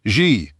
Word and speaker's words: Xi: Her pronoun was Eeks E spelled the letter X, then the letter I, but pronounced Xi.